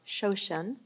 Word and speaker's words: shoshin: I think it's pronounced shoshin, and it is to convey the idea of the beginner's mind.